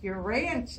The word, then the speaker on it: Urantia: that's how I pronounce it's pronounced your ranch I said oh okay